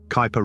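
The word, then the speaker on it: Kuiper: two large reservoirs the Kyper belt Kyper rhymes with Piper which is beyond Neptune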